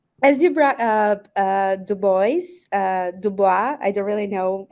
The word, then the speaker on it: Du Bois: As you brought up Dubois, I don't really know how you say that in English. Americans say Du Bois.